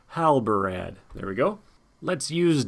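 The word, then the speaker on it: Halbarad: gimlies and Hal Brad gotta make sure I say it right not Hal brand Hal Brad there we go let's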